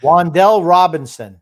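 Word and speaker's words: Wan'Dale Robinson: Waddle Robinson, Wandell Water, how the hell do you pronounce that? Wandell Robinson.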